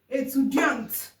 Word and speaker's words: étudiant: Étudiante. Why in masculine we don't have E? The T is silent.